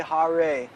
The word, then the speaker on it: Hare: So he said, don't say Hare. He said, pronounce it Hare, like with a D. He said, you may be criticized for imitating Bengalis. Hare Krishna. He said, but it will sound better, more authentic.